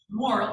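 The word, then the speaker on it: Morrill: one of the congressman Merrell was his last name moral I guess I should say correctly moral I believe is how you pronounce it he said let's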